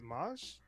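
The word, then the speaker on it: Maus: start with uh janet moss i believe that's how you pronounce her last name is spelled m-a-u-s uh she worked on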